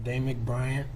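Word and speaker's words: Damik Bryant: forward and please state your full name and spell it um damic bryant d-a-m-i-k b-r-y-a-n-t first i want to start off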